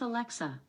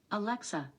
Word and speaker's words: Alexa: alexa play noah weather i pronounce alexa alexa the stress is on the middle syllable thanks but okay alexa